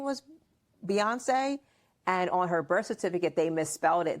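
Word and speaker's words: Beyoncé: Beyonce or as your pop calls her what? Buoy. Buoyancy cuz he doesn't say her name right. Buoy.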